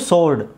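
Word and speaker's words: sword: ಅದು ಆನ್ಸರ್ ಅಂತ ಆಗೋದು ಇದು ಸೋರ್ಡ್ ಎಸ್ ಡಬ್ಲ್ಯೂ ಆರ್ ಡಿ ಇದು ಸೋರ್ಡ್ ಆಗುತ್ತೆ ಸೋರ್ಡ್ ಇಲ್ಲಿ ಟಿ ಡಬ್ಲ್ಯೂ ಓ ಟಿ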